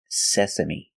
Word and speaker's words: sesame: our next word is Sesame Sesame it's a kind of seed we cook with sesame seeds pronunciation Sesame the first syllable is SE using the